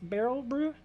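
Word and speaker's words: Berry Brew: is it um uh barrel view but it's spelt like uh berry b-e-r-r-y with an l so it's barrel brew it's a play on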